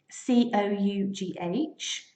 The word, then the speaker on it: cough: a really good example if you look at the spelling c-o-u-g-h but the pronunciation is very easy cough cough and it's quite a